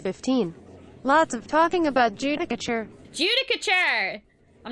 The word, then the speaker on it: Judicature: It is Judicature, okay.